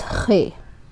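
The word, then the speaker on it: خے: So Kh is the sound. Kh. Loch Monster in Scotland. I have a Scottish student, and when I was teaching him, I gave this example. Loch Monster. Loch. Kh. Like it's coming from the back of the palate somehow.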